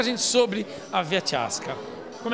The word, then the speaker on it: Ciasca: A gente fala Via Chiasca, que é a pronúncia certa, né, Rui? Boa noite. Boa noite. Mas se escreve Via Chiasca. Então, se você falar Via Chiasca, também não está errado, não, que é o portuguesado.